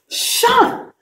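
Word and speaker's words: -tion: you are ready enough tion mix the sound of shun you are so smart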